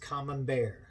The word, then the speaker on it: Camembert: So we're gonna go in, and the wine that we're gonna do is it's spelled Camembert, but it's pronounced Camembert.